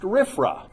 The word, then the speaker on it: RFRA: retired presbyterian pastor san antonio mission presbytery it's pronounced riffra there's only one way to say it but